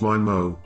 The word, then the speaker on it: MIMO: 802.11n is the first standard in the 802.11 family to support MIMO, pronounced MIMO, which stands for multiple inputs, multiple outputs, which